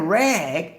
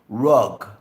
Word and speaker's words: rag: our AG rep rub she was saying rag his rag but she was pronouncing it rug okay she wanted to rag on the rack so she put it in a clothes dirty clothes to wash it I said girl what are you talking but that's right that's pronounced right but see in their culture there is no short a sound for ad okay like